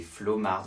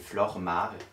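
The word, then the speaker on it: Flormar: flou remarque que j'utilisais oui je le prononce est mal je disais flow marc dans mes vidéos c'est flore marc oui voila merci à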